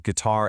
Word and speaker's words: guitar: And hey, notice the stress on words like guitar and violin. Honestly, getting that syllable stress right makes a huge difference in sounding fluent.